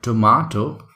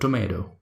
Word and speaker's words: tomato: it in a way so this is called tomato in british accent an american car accident is called tomato they try to say